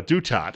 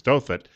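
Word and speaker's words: Douthat: honest Americans don't 917 rasa dutat is the way that's pronounced on The Rush Limbaugh program I hear the name otherwise is dothat conservative columnist at the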